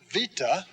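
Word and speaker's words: βῆτα: text so alpha ah alpha vita remember that's a v sound vita is like our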